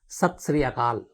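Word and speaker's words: ਸਤਿ ਸ੍ਰੀ ਅਕਾਲ: और उन्होंने ये भी कहा कि आप सत श्री अकाल, ये सही है प्रोनाउंसिएशन, तो थैंक यू वेरी मच गलती की तरफ ध्यान देने के लिए किरण जी।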